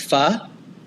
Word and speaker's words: pho: It reminds you how to pronounce pho. Whoa, true. Some people might be out there calling it pho. And they said it's fanatic. It reminds you of the word fanatic. Like, I don't think we hear that often.